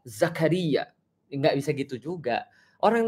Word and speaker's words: Zakaria: memaksa orang untuk ya lu enggak boleh zakar Zakri no no it's wrong not zakar but Zakaria enggak bisa gitu juga